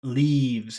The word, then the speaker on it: leaves: Leaves. And you smile and your mouth is open and your tongue feels very tense. Leaves. It's a very tense sound, number two.